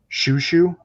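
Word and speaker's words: Xiu Xiu: I think it's called Shushu, like XIU, which was early 2000s, I think.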